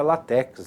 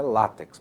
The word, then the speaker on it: látex: Muita gente pronuncia látex, né? Mas o correto é látex porque é uma é uma paroxítona terminada em X.